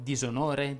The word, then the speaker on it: disonore: discredito disfare di stile tuttavia sarebbe corretto pronunciare con la s sonora queste parole che pure hanno la particella di essa sono disagevole disonore disamorare disappunto disimpegnare ce ne sarebbero altre ma ci